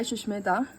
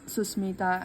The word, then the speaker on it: Susmita: idea is makeovers by Shushmita. And this Susmita, everyone like get confused with my name. Everyone put H in between, but it's Susmita.